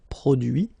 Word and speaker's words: produit: Okay, so the same rule, because, well, basically it's the same group, and then same rule, final T not pronounced, so introduit, produit, réduit, séduit, traduit.